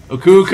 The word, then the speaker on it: Aku Aku: It's like, you say it like it's spelled, A-Q-U, Aku Aku. It's not A-Q-U, it's A-K-U.